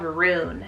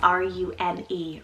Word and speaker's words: Rune: Then for another cool single syllable name, I have Rune, spelled R-U-N-E, Rune.